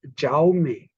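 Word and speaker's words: Jaume: j-a-u-m-e which is again proper noun it is xiaomi so I said you people also have exactly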